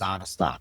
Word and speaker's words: Onystok: and and it's actually the way you would pronounce my last name is out of stock, right?